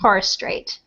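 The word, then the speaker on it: Torres Strait: and it's it's just so you know it's pronounced torist straight okay I like the Tories but um bunch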